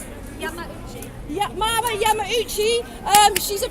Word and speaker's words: Yamauchi: How do you pronounce it? Yamauchi.